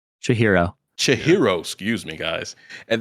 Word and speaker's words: Chihiro: it, Spirited Away is the story of 10-year-old Shira. How do I say her name? Chihiro.